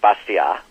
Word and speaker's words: Bastiat: Economist long dead um the name's pronounced something in French like bastia but it looks like bastiat uh in terms of